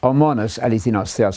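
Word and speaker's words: μόνος ἀληθινὸς θεός: that the Father is homonos eleithinos theos. I'm using the modern Greek pronunciation here, the only one who is true God.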